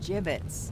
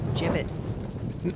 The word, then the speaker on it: gibbets: some gibbets left over gibbets what it's pronounced jibbets are you sure yeah